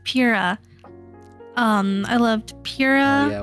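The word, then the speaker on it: Pyrrha: Priya. Priya, something like that. Pira? Pira, yes, Pira.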